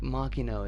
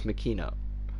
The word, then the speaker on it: Machino: Rea machino like I I feel like machino is the proper way to actually say that I don't I don't think it's Makino that's that's not how you pronounce that name I hold many good